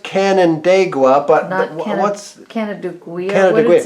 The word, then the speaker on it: Canandaigua: It's pronounced Canandaigua, but what's Canandaigua?